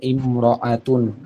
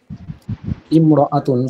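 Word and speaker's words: امرأة: এই যে আলিফটা আছে, এই আলিফটা শুধু লেখার সময় আসবে, উচ্চারণে আসে না।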